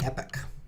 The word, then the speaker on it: Epoch: the EP this is the milliseconds since the Epic in JavaScript is that how it's pronounced let's find out because that's such a